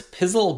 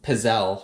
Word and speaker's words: Pizzelle: We sold this Pizzle Baker, or Pizzelle, I guess is how you pronounce it.